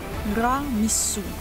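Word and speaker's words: Ramesses: سو، وهنا سو معناها ضمير غائب بمعنى هو، وتتنطق الكلمة رع مسو، ومعناها الذي أنجبه رع.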